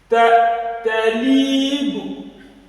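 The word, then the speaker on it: طالب: Talibu. Talib. Talibu. Talib. Talibu. Talib. Be careful so that this does not go in the process of pronouncing. You don't go and stretch this bar.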